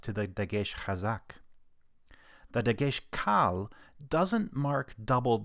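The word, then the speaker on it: דגש קל: There is another kind of Dagesh with the Latin name lena, or in Hebrew, Dagesh kal, which means light, or perhaps weak in contrast to the Dagesh chazak. The Dagesh kal doesn't mark doubled letters, but it does flag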